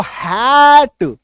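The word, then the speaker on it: hate: तो अब इसका उच्चारण देखो, बी एस AC base, H ए टी हेट, इसको हैट नहीं बोलेंगे, हेट, है ना।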